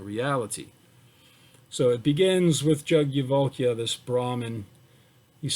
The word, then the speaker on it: Yajnavalkya: Okay, so the opening selection, all right, so it is Yajnavalkya is how I've heard it pronounced. It's spelled Yajnavalkya, but I've heard it pronounced Yajnavalkya. So that's how I'm going to say it.